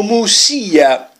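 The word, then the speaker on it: Muxía: ritenuto opportuno andare a muxia o o Musia così come si pronuncia da queste parti se c'è stato San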